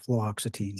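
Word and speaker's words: fluoxetine: flutin I have difficulty with that as well fluoxitine fluoxitine thank you yes I'll say it wrong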